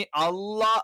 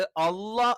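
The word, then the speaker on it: الله: അള്ളാ എന്ന് പറയുന്ന സമയത്ത് ഉച്ചാരണം ഇതേ സ്ഥലത്ത് നിന്ന് തന്നെയാണ്, പക്ഷെ എന്ത് ചെയ്യും നാവിന്റെ മധ്യഭാഗം ഉയരും.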